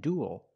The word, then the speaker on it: duel: We see with the first three, they're pronounced pretty much the same. Cruel, gruel, and duel. They all have the oo sound plus a dark L, ool, like pool and cool.